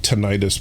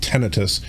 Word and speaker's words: tinnitus: Now, I've always had, and I don't know, I've always called it tinnitus, but I guess it's actually pronounced tinnitus.